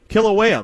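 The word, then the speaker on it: Kīlauea: How do you pronounce that? Kilauea volcano.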